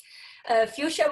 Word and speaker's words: Fuchsia: to say my name fuchsia with an H so kind of like fuchsia or you share fuchsia and while Sanders you